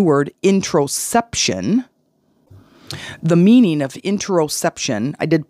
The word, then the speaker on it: interoception: The meaning of interoception, I did pronounce it wrong just a second ago. It's intero, not interception, because interception is like in football when they intercept the ball.